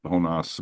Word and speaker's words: Jonas: Honas, but he says Jonas, but Jonas. Honas is the So what he did, he didn't win the event.